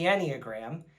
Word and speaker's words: Enneagram: Later, I found out that it was pronounced the Enneagram and that it was some sort of personality assessment.